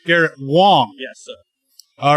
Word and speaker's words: Wang: It's spelled with an A, but pronounced like an O. But it's good that we tell people this, though. Excellent. So it's Garrett Wang.